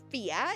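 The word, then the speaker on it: Fiadh: That's how it's pronounced fear. It is an Irish and also a Scottish word. Um, for dear or wild, I am a silly little creature.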